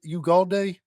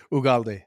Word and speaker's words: Ugalde: Is it Ugalde? As long as close as we are, I don't think I've ever pronounced your name right. Say it for me. That's correct. Ugaldi.